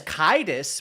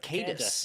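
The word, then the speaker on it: Caedus: It's Kaidus but I always pronounced it Darth Cadis.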